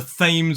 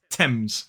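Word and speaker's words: Thames: it is not the themes or the themes it is the TS so that th is pronounced T TS uh and as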